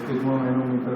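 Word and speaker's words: sphygmomanometer: ठीक है, इसको अगर ऐसे ब्रेक करके पढ़ेंगे या याद करेंगे तो इसकी स्पेलिंग आराम से याद हो जाएगी और बोलना भी आसान हो जाएगा। ठीक है, SPHYG स्पेलिंग, MO MANO मैनो और मीटर, तो स्पिग्मो मैनोमीटर हो गया।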